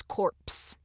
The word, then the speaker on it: corpse: And I will say, in the RSC, it is corpse. It has the P in there.